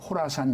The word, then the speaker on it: 호라산: 그래서 K라고 하는 말은 호라산이라고 번역이 되어 있는데 정확한 발음은 호라산. 그래서 이제 코라산. 그 지역이 옛날에 이슬람 제국주의 당시에 코라산 지역이었거든요. 그래서 IS의 호라산 지부라고 생각을 하면 되고요.